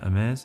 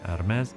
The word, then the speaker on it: Hermès: by Apple California and Ames in Paris. We do not pronounce the H and the S is more like a Z, but a soft Z.